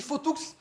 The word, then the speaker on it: Fauthoux: Nicolas Nicolas Bou ou sur le Sud-Ouest on prononce Maas fou d'ailleurs on dit faotou tu peux le redire une nouvelle fois le